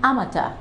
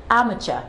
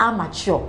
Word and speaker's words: amateur: you are such a person you are an amateur yes that is the correct pronunciation for this word if you are such